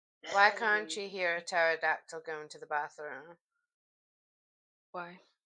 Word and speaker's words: pterodactyl: Why can't you hear a pterodactyl going to the bathroom? Why? Because the P is silent.